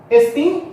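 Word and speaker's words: ἐστίν: ES cotos cotos espin es estim é acentuado na última sílaba tá bom Por que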